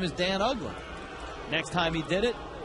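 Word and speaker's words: Uggla: a half everywhere he went his name was mispronounced Yuga ugla ugla Ross misses up so Tommy and I spent a good part of April and early May telling everybody not his name is Dan ugla and so ugla ends up having such a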